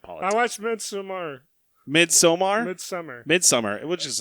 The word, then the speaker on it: Midsommar: My gravestone will say, it's pronounced Midsummer, you jackass.